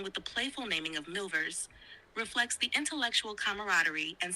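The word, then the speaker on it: milvers: of a type which they have christened quote milers m i l v RS partly because it is a good word word partly because it quote supplies a long-felt want in end quote in rhyming with silver Barfield hopes soon to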